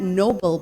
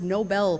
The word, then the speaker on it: Nobel: think about the Nobel Prize it's actually not Nobel Prize it's pronounced Nobel Prize so here are some tips on how